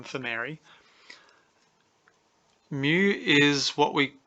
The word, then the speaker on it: mu: Mu is what we call, so you say it like that.